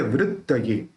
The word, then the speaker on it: वृत्तये: चिंत्य आधा न है आधा त है, चिंत्य वृत्त ये। देखिए यहाँ पे त है वो दो है, आधा त भी है पूरा त भी है, तो वृत्त ये उसको थोड़ा जोर लगा के अपन उच्चारण करेंगे।